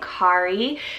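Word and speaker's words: Khari: woods we have the name Kari spelled k-h-a-r-i Kari this is actually a pretty gender neutral name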